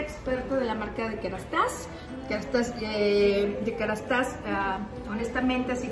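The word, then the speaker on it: Kérastase: Oh, y pregunta, ¿Kerastas o Kerastase? ¿Cómo se pronuncia? Kerastas. Kerastas, hasta las.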